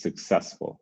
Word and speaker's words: successful: heavier well i apologize successful successful the the second syllable is going to be heavier than the other one so successful you hear when i say it's successful the middle syllable is kind of stronger than the others stronger than the beginning stronger than the end um and so we'll